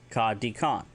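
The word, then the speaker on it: kadikaan: Kadikan.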